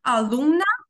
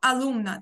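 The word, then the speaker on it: alumna: Звертаю вашу увагу, що найчастіше в іспанській мові наголос падає на передостанній склад. Тому алумна, алумно, алумна – це учень-учениця.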